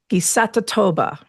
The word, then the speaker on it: Ngisatotoba: To my friends who speak Zulu, there is a concept, Gisatatoba. Gisatatoba. It's spelled Ngisatotoba.